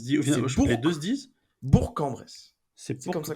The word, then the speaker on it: Bourg-en-Bresse: Bourg-en-Bresse.